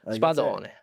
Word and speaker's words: Spadone: And you got to pronounce all the vowels. Yeah, exactly. Spadone.